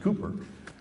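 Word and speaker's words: Cowper: uh it's spelled cper but it's actually pronounced Cooper said he works in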